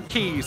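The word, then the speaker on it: quay: Yeah, Florida Keys. It's the same root word, but it is spelled different. But oh, yeah, Q-U-A-Y is also pronounced key.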